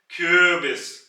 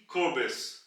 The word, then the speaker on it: Kürbis: और यहां पे आप देख रहे हैं कि यू के ऊपर उमलाउट है, यानी कि अगर मैं उमलाउट हटा दूं तो इसकी प्रोनाउंसिएशन बनेगी क्यूबिस, जो कि गलत प्रोनाउंसिएशन है। जब मैं उमलाउट लगाऊंगा तो यह आवाज फ्लैट हो जाएगी, क्यूबिस, क्यूबिस।